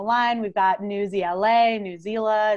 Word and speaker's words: Newsela: we've got news ela newsela it's pronounced a whole lot of ways but you can now go back to all of your friends and say it is officially newsela rhymes with umbrella so first and foremost